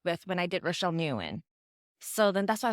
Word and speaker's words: Nguyen: say it now well I still say Newan I grew up saying Newan I know in Vietnamese is just like the one syllable but when people say that one syllable if they can't say it it it hurts my ears more than just saying Newan I think new is